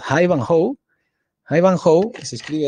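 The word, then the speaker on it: Ivanhoe: que aclarar acá que iba no es una horrible pronunciación es haivanjoe ahí van holt se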